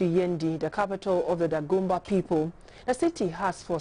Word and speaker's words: Dagomba: In the following report, we'll break it all down in Yendi, the capital of the Dagomba, or better pronounced, Dagomba people.